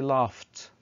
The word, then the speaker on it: laughed: After gh pronounced as f sound. طبعا gh لما تتنطق كصوت ف. Like laugh we say laughed.